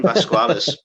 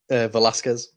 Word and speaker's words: Velasquez: So the next one I've got is Cain Vasquez. I hope I said that right. Although I much prefer that pronunciation. No? Velasquez.